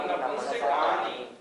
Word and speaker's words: नपुंसकानि: नारक सम्मूर्छिनो नपुंसकानि। इसके उच्चारण में भी नपुंसकानी नहीं बोलना, नपुंसकानी, का बड़ा नी छोटी, नहीं तो गलत हो जाएगा।